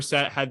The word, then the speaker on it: Seth: and set uh where set had then tore out his lie yeah um pronounced with an h oh seth oh yeah it's seth um i know yeah